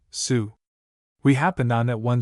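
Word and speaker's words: Sault: the little town of Salt Estarie pronounced abruptly sue.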